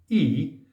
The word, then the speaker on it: 意: and Ry means come e pronounced not as in white but as in green means intention or Aim